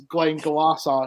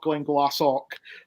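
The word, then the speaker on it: Glenglassaugh: already having held them it's Glenn Glasser not Glenn glassock or something like this so I let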